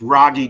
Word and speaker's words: Rogge: you got doing it's rogy done pronounced like froggy without the f w I'm a sixth